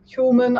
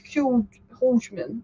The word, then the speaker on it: Hjulmand: It's really weird, those Danish names, because there's a D at the end of Hjulmand. You'd think it's Hjulmand, but it's actually Hjulmand, isn't it?